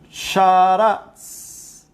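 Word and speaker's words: שרץ: Y la palabra en hebreo del verso 20, produzcan las aguas seres vivientes, viene de la palabra sharatz. Así se pronuncia.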